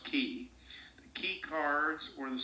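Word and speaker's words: Qi: days ago was that the key cards spelled q i I think is pronounced key the key cards or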